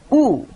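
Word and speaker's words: ㅜ: Then it becomes, and it is pronounced U.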